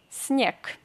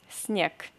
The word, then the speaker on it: снег: If you see G, this letter, this consonant G, in the end of any Russian word, you have to pronounce this G as K. Снег. Снег.